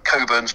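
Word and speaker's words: Cockburn's: were a little bit repressed people would actually pronounce it differently so you've got people you know it's like um famously coburn's port yeah if you go and buy a bottle of coburn's port it's actually spelt cockpins on the label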